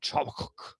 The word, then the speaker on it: Habakkuk: Habakkuk. Habakkuk. Oh, that's so cute. I mean, that might be fine. Bible pronunciation. No, that might be fine. That might be fine. I've heard people call it Chabakuk.